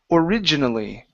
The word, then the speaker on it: originally: word here is pronounced originally okay so the stress orig okay is right here originally originally okay good